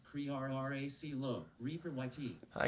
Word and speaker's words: Crearcillo: My name is pronounced Crearracilo.